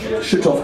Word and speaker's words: Schüttorf: Schüttorf, ganz cool.